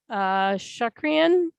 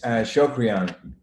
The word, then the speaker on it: Shokrian: It's Shokrian. Shokrian. I knew whichever way I flipped on the O, it was going to be wrong.